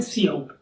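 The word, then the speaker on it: cout: तो उसके लिए हम एक ऑब्जेक्ट का यूज करेंगे, इसका नाम है सी आउट। सी और आउट आप इसे इस प्रकार से प्रोनाउंस कर सकते हैं।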